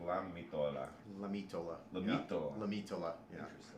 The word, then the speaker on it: Lamitola: Am I pronouncing that correctly? Lamitola, you got it.